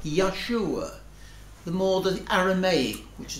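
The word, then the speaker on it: Yeshua: form of name because his name would be pronounced something like Yahshua the more than Aramaic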